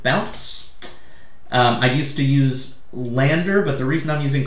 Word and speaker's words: Landr: is amazing right uh landers more of like 15 a month lander spelled with no e so l-a-n-d-r dot com i've used both of